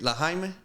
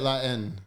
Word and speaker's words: La Haine: Wait, La Jaime?